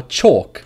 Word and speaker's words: chalk: Same for chalk, when you write on a board, blackboard, with chalk.